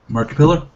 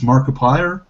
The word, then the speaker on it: Markiplier: marip player's name again marip pillar marip pillar I thought i' I've been told by like 20 people that's marip pillar is it's Markiplier it's Markiplier it's it's a joke